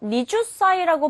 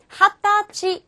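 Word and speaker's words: 二十歳: 읽는 방법이 달라집니다 자 얘는요 니주 사이라고 발음하지 않고요요요 숫자와요 사이에 해당되는 한문을 합체해서 핫다 라고 읽어 주셔야 돼요 다시 한번 더 스무살의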